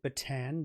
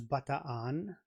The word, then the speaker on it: Bataan: Wait, he said he said Batan. That is not pronounced correctly. I mean, since I am learning Tagalog, um I would say it is Banan, right? Am I correct there, please?